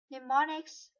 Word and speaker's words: mnemonics: to make memorization easier mnemonics the the initial M is silent are clues of any